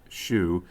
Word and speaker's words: SHU: In particular, the cowboys ran roughshod over the Special Housing Unit, or SHU, pronounced SHU, a prison within the prison for inmates with disciplinary problems.